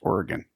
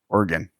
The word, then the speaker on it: Oregon: I think it's Oregon. It's kind of like Toronto. The the the second G is really barely pronounced Oregon.